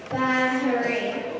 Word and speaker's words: Bahrain: He's been to Iraq, Afghanistan, Bahrain. That's how you say it, Baharin.